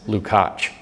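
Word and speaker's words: Lukács: his name is jurge which is the Hungarian pronunciation of George it's George lcat and L u k a CS lukach uh Hungarian I'm not even going to spell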